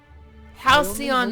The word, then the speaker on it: Halcyon: don't make them like this anymore in Halcyon Halcyon that's how you pronounce it okay now what business brings you